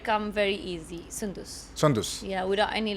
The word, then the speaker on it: Soundous: Sandus. No. Sondus. Yeah. Sundus. Sundus. Sondus. Yeah, it should like come very easy. Sundus. Sondus.